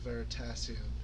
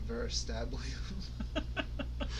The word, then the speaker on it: Veritasium: It's like Brady, CGB Grey, Derek of Veritasium, who they always on Hello Internet pronounce his name wrong on purpose. They say Dirk from Veristablium.